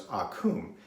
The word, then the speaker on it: Occam: the information i guess but the razors actually pronounce akum and so apparently uh william of akum was